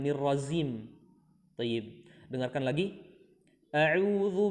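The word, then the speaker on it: أعوذ: Baik, jadi lafaz ta'awudz ya, bukan a'udzu, bukan a'uju ya. Tapi a'udzu.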